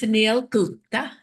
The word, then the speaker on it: Suneel Gupta: So, to everybody, this is Sunil Gupta. Did I pronounce that right?